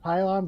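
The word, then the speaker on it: Pilon: Yeah, it's pronounced Pylon, but it's spelled with an I instead of a Y.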